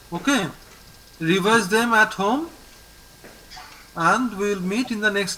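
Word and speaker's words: Inde: IN is pronounced as A. So it is and.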